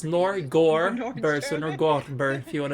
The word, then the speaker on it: Norgorber: It's actually pronounced Norgorber, so Norgorber, if you want to do the whole proper pronunciation of it.